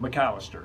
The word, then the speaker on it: Macalester: That's correct, but your pronunciation is. How do you say it? McAllister.